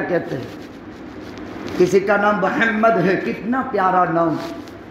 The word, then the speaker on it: محمد: جب تک ایک ہونٹ دوسرے ہونٹ کو چوم نہیں لیتا ہے تب تک محمد کا تلفظ بھی نہیں ہوتا ہے. کہو صلی اللہ علیہ وسلم, ایسا پیارا نام ہے. لیکن ممدہ بولتے ہیں, کتنا غلط نام ہے.